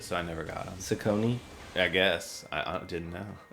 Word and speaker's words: Saucony: this is amazing yeah I was uh into sauconys in high school okay I didn't know how to pronounce it so I never got them Saucony I guess I didn't know it's Saucony Saucony